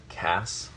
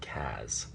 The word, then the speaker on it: Cas: I think it's critical that the name still be pronounced Cass and not Kaz.